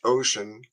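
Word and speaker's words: Wouxun: this little uh ocean that's wuxu n but it's pronounced ocean 935 G+ with this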